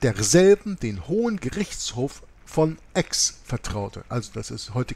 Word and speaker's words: Aix: anbefahl und mit derselben den Hohen Gerichtshof von Aix vertraute. Also das ist, heute kennen wir das als Aix-la-Provence, A-I-X ausgesprochen.